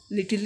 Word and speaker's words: little: लिटिल ई नहीं बोल रहे हम लोग, लिटिल बोल रहे.